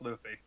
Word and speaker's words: Luffy: It's pronounced Luffy.